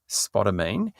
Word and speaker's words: spodumene: I had to look up how to pronounce it, spodumene, and it's actually a really great lithium concentrate